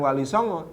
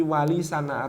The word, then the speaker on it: Walisana: buku atau kitab walisana ternyata pelafalan di Keraton itu bukan Walisongo tapi walisana atau Wali Songo Wali